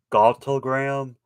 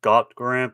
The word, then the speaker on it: Gauntlgrym: there as well and the back and it's pronounced galtogram not got grant because i thought the hell was silent but